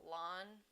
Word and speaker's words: ln: natural logarithm this is you often just hear it pronounced like lawn but it is the